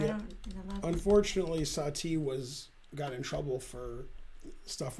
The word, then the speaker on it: Satie: His name Satie. I never know how to say that. Satie.